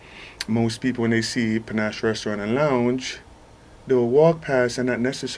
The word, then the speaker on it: panache: mean elegant in class but it's spelled PA na CH e will just break it down look in the dictionary said PA - na SH so we named it panache my biggest drawback with